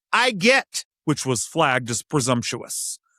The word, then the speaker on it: IWGET: The entirely imaginary Interagency Working Group on Emergency Terminology, IWGET, pronounced I get, which was flagged as presumptuous.